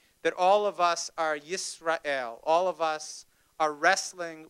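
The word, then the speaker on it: ישראל: And Israel, pronounced in Hebrew Yisrael, literally means those who wrestle with God.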